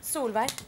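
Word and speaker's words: Solveig: Aber du wirst soll weit geschrieben, aber ausgesprochen in Norwegen wirst du? Solvay.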